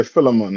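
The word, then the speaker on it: Philemon: this the book Phil how you pronounce other one I'm used to say fiman is it filon I said yeah filon I just mean what you said book of filon chapter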